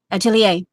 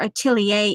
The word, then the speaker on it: atelier: That you emphasize the syllables instead of like atelier. You don't in the word atelier, you don't take the time on it. You have to say it fast.